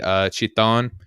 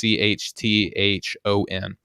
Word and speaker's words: Chthon: last episode, I believe the big bad might be Chiton, who is I'm probably mispronouncing that, but it's Chthon. So it's not like an easy word, at least for me phonetically, just to be able to read and say.